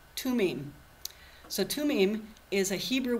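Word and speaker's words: Thummim: How do you spell that? Tumim.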